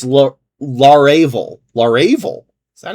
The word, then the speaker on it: Laravel: Is it larval? No, it's laravel.